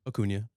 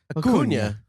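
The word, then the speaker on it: Acuña: Acuna. Acuna. You put the Acuna. You really dig in. ACUNA. Well, if you're putting an Enya in there, I'm saying the Enya.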